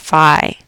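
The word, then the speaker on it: phi: I'm sorry fi yeah it's pronounced fi it's um Latin symbol this is page 305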